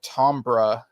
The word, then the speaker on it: timbre: Apparently there's a couple different pronunciations of that, but that's how I heard him say it, so that's how I'm saying it. That's probably because he's got an English accent. We say timbre, but yeah, but people